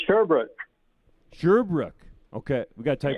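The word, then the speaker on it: Sherbrooke: Riders 3 and 0 Steve in sheru Nova Scotia hopefully I got that right Steve did I say it properly yeah it's actually sherbrook sherbrook okay we gotta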